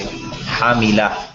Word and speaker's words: hamila: Now, today you'll hear someone say hamila. Hamila is the more correct way to say it, but generally, think about it.